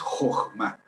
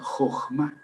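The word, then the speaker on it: חכמה: Pero recuerden que la H en inglés y en alemán se pronuncia J. Entonces, la pronunciación correcta es Jochma.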